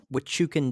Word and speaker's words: Huachuca: Damn, this was the Huachucan Desert, and it's spelled Hauchuca.